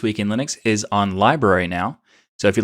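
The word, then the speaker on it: LBRY: library but it's pronounced lb or it's pronounced library but it's spelled lb ry so if you want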